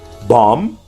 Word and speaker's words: bomb: Most silent B's come at the ends of words and just after M. Bomb, climb, come, crumb, dumb, lamb, numb, plum, thumb, tomb.